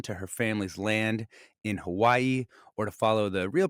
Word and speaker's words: Hawaii: to hold on to her family's land in Hawaii, or to follow the real pronunciation more closely, Hawaii.